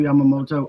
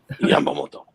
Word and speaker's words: Yamamoto: If you're looking for the best bet of the day, I'm going with Yoshinobu Yamamoto over 18.5 out. That's not how you say his name. Yamamoto.